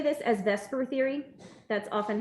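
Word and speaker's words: VSEPR: do say this as Vesper Theory that's often how it's said although it's that's kind of weird because you think that e would go first but it doesn't but they do say Vesper Theory all right so here's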